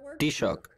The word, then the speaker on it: Taoiseach: Enda Kenny es el actual Taoiseach, o jefe de gobierno, o ¿cómo se pronuncia en irlandés? Taoiseach.